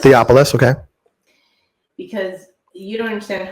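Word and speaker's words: Theophilus: realization of why this person how do you pronounce the same theopolis theopolis okay because you don't understand how many times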